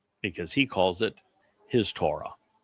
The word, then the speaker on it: Torah: he calls it his Torah. And the W and Torah is what delivers the O sound. It's also repeated by the Wah in shalom.